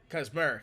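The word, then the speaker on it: Kacmarek: Kaczmarek. Or Kaczmarek. I think that's how you... Kaczmarek, that's how you pronounce it.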